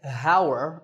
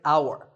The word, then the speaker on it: hour: In number 9, the spelling has an H at the start, but that H is silent. We don't say hour, we say hour.